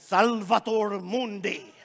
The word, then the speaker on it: Salvator Mundi: right leonardo da vinci salvatore mundi say that with me salvatore mundi come on i'll say like say it like with an accent salvator mundi who they gave me